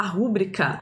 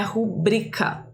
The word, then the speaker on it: rubrica: todo mundo erra né a gente fala rubrica mas o certo é rubrica Inclusive tem a galera que coloca rubrica com acento aqui não